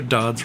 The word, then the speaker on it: Dodds: Sarah Dodds rhymes with snod.